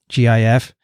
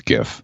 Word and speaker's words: GIF: graphic interchange format anyway the g in graphic is a hard g so i think it's gif if okay so you